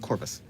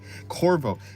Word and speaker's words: Corvo: Oh yeah, it's Corvo, not Corvvis, but similar. Similar. It reminded me of that game at the very least at the very Corvo.